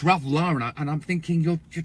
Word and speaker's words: Ralph Lauren: They said you guys people say Ralph Lauren. That's hilarious. With Ralph Lauren. Oh, it's Ralph Lauren.